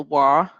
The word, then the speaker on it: Vav: Then you have the Wa or the Va, right? The Vav is the modern pronunciation, and it has a numerical value of 6, right?